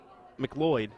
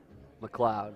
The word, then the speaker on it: McLeod: to McLeod uh uh mcloyd sorry is it mcloyd McLeod McLeod okay that's what I was going to say I did say it right in the very beginning McLeod uh I mean